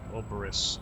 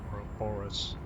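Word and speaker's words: Ouroboros: Oberis, not roborus.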